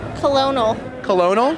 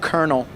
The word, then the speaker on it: colonel: me right oh okay jenny pronounce this word colonel colonel it's actually that's kernel oh my gosh it's a